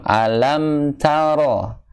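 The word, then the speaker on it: أَلَمْ تَرَ: Ketika mim ketemu tak, harusnya dibaca jelas.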